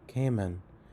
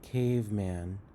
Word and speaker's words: caveman: come man my man you're pronouncing this word like Cayman but the word is caveman caveman x-ray was full